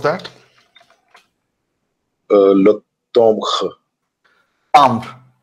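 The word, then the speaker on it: timbre: Tambre. This is nasal A. Chalaka dekhe la ja. Le tambre. I think he's still enjoying my singing. He's lost in my voice. Okay. Le tambre, yeah.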